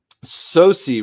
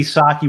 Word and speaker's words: Socci: at it and says so it's your maybe socky once in a while but you know from the time that uh i was uh you know could could say my name it was sosi in our household so that's what it